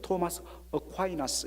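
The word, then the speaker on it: Thomas Aquinas: 중세 당시에 교황 이노센트 2세와 정말 중세가 낳은 위대한 신학자로 할 수 있는 토마스 아퀴나스, 우리 2세들은 이제 토마스 어콰이나스 이렇게 발음을 하더라고요.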